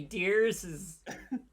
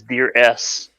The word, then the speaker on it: DearS: capitalize the s but when they say it in the series they always just say dears so i'm not really